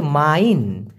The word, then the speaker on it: main: কারণ MAIN উচ্চারণটা হচ্ছে মাইন।